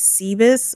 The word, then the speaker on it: Cebeis: it, like, Cup of Noodle always gets my name wrong. It's Seabees, but it's so funny I can't correct her.